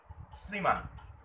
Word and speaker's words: শ্রীমান: তালবসের সঙ্গে র ফলা যুক্ত থাকে যেমন ধরো শ্রীমান তাহলে এখানে র ফলা যুক্ত আছে সেক্ষেত্রে কিন্তু কালোবসের উচ্চারণ এস এইচ না হয়ে এস হবে এস